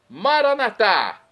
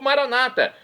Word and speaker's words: Maranatá: E agora do aramaico eu clamo, Maranatá, como dizemos nós católicos, ou Maranata, como dizem nossos irmãos separados, os evangélicos ou protestantes. Não importa, a pronúncia e o significado é o mesmo.